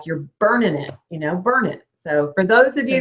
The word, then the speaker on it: Burnet: It's burn it, like you're burning it, you know, burn it.